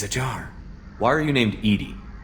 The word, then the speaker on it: EDI: Why are you named Edie? EDI is the phonetic pronunciation of EDI. That is an acronym for Enhanced Defense Intelligence. Why are you named Edie?